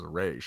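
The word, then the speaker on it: Ra's: They said Raz in the beginning, and then they converted it to the correct pronunciation, which is Raish.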